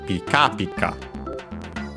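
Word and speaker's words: ピカピカ: By the way, Pika Pika, I don't think I mentioned it, actually accented on the second syllables, on the first ka, Pika Pika.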